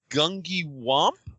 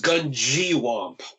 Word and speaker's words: Gungywamp: let me try it is it gungi wamp no it is Gung wamp oh gun gwamp before